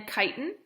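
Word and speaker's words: chitin: a plant as well and then kiten right is that's how you pronounce it kiten um is in like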